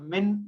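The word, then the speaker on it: مِنْ: पता है हुरूफ हल्की में से है, तो ये यहाँ पर गुन्ना नहीं होगा, यहाँ इजहार होगा। मिन इल्म, ये यहाँ मिन यानी मिन प्रोनाउंस होगा, मैं प्रोनाउंस नहीं होगा।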